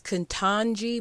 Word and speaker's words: Ketanji: The next headline, as I said before, is Living Black History, as Ketanji Brown Jackson was nominated as the first Black Supreme Court Justice.